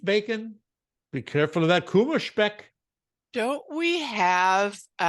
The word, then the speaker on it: Kummerspeck: In German, we say Kummerspecht. No, I'm sorry, Kummerspeck. Kummer, Kuma. Uh-huh. Oh, Speck, I guess. Speck. Kummerspeck.